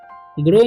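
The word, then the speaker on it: grow: और ध्यान रखना है इसको ग्राउ नहीं पढ़ना है इसको ग्रो ही पढ़ना है ठीक ऑन मतलब होता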